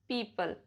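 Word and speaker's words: people: ओ is silent in the combination of ई ओ एंड ओ यू. जैसे पीपल, leopard, rough, tough, enough, trouble, double.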